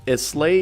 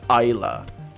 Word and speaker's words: Islay: a gaelic word and in gaelic you don't pronounce it islay you pronounce it ila so i i'm gonna